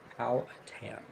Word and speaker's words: Powhatan: Apparently, this is the correct pronunciation. Powhatan.